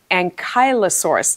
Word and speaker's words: ankylosaurus: who's 8 years old and we did the Ankylosaurus together I hopefully I'm pronouncing that correctly now he corrected me on